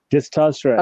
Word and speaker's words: disastrous: So let's break it down. So say for me, disaster Disaster. and then disastrous. Disastrous. So let me spell it how you pronounce it. Yeah. Disaster, Disastrous. disastrous, trust. Disastrous.